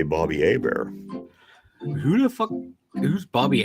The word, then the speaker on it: Hebert: And I was like, "It's Bobby Herbert." And I'm pointing at it, spelling it out. And it ended up being Bobby Hebert. But there's an H in it. You should pronounce the H.